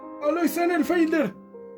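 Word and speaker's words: Alois Senefelder: Tenemos a otros personajes como Alois Producción, ¿cómo se pronuncia? Alois Sennenfelder.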